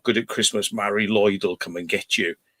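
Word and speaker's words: Mari Lwyd: G to get a l call yeah we pronounced it Mari Lloyd but it's it's written down as Mary ludd lud yeah but it's Mari Lloyd we used to call it yeah wow that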